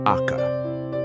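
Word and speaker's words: acca: H, pronounce Aka.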